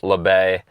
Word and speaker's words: Le: My name is Le. That is how you pronounce my last name.